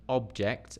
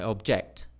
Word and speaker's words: object: address address address sorry to address an object this is an object a thing and I object Dum D object object object this is an object